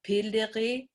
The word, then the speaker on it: piliri: that they for work they say piliri p i l i r i p l and